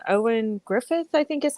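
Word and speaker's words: Ioan: Owen is how he says it. Owen. Okay. Owen. Yeah, because it's spelled like it would be like Ian or Ian, and I'm like, I have a hard time saying it because it's spelled, unphonetically.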